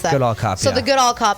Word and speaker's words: Goodall Cup: How do you pronounce that? Goodall Cup, So yeah.